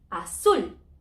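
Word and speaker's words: azul: word blue that were ends in a letter different n s or vowel so the stress is a the end we need to know to splitting syllables for that so A zul and the stress is represent always in the vowel good?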